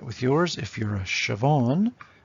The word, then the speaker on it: Siobhan: maggie simpson two trookies if you have a two-syllable name yourself try it with yours if you're a siobhan it's an i am okay if you're a